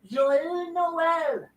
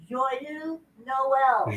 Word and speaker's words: Joyeux Noël: Joyeux Noël. Joël? Joyeux Noël.